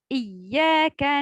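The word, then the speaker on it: إِيَّاكَ: Encore par exemple dans sourate Al-Fatiha, si la personne récite Iyyaka na'budu wa iyyaka nasta'in sans mettre la shadda sur le ya, ya qui est en rouge ici.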